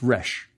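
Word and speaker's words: rš: Then we recognize an old friend, the word for rejoice, pronounced resh.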